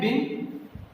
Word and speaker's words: been: उसके बाद हमें लिखना है बिन, BEEN, बीन। ऐसा बहुत से लोग बोलते हैं, और आई कैन से कि हम इसको बीन लिखते हैं बट we pronounce it बिन।